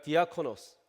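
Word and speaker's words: διάκονος: 디아코노스. 이 디아코노스가 영어화가 돼서 디건이 된 거예요. 비슷하죠?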